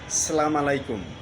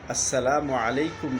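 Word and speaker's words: السلام عليكم: আমরা অনেকেই সালামু আলাইকুম এ কথাটি বলি। এ কথাটির অর্থ হলো উটের নারী ভুরি আপনার জন্য।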